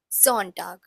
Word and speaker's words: Sonntag: Then again, S has a little bit Z sound, so it's pronounced as Sonntag.